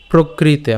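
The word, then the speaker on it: প্রকৃতেঃ: প্রকৃতে, ঠিক আছে, প্রকৃতে, প্রকৃতে আমরা একসাথে উচ্চারণ করব, প্রকৃতে, ঠিক আছে। এরপর ক্রিয়মানানি, ক্রিয়মানানি, প্রকৃতে, প্রকৃতে, খেয়াল করুন এখানে রফলা আছে, সো প্র উচ্চারণ করছি, ঠিক আছে, প কিন্তু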